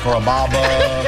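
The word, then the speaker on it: Carrabba's: chop it up pretty good you know Kaba kababa Kura it's a really easy name to pronounce it's Kaba come to kabas for dinner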